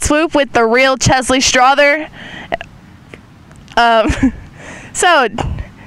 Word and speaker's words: Strother: Is it pronounced Strother or Strother? Strother. I think I would know. I think it's Strother. How do you feel about assists?